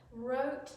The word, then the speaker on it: wrote: Wrote, W is silent.